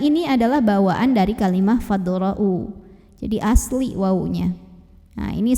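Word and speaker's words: فَادْرَءُوا: Fadra'u. Ro dibunyikan secara tafkhim karena ro-nya berbaris fathah. Maka bacanya ditebalkan, pangkal lidah dinaikkan. Ro ya. Fadra'u.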